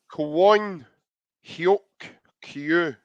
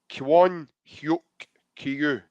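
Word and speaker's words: Kwon Hyuk-kyu: Kwon Hyuk Kyu. That's how you pronounce his name. Kwon Hyuk Kyu.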